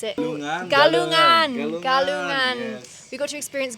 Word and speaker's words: Galungan: We got to experience I can't pronounce it. Galungan. Yes. We got to experience Galuna. I can't still Galungan. can't pronounce it. No worries. Galunang, which was incredible.